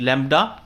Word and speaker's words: lambda: ये एक लेटर है, ठीक है, ग्रीक लेटर है जिसको हम लैम्डा बोलते हैं, LAMBDA, इट is pronounced लैम्डा, और ये रिप्रेजेंट करता है वेवलेंथ को।